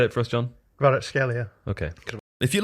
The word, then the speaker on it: Kvaratskhelia: Yeah, he like against Napoli, he was bodied by Kvaratskhelia. I've said his name wrong. Kvaratskhelia. I love that guy. Say it for us, John. Kvaratskhelia.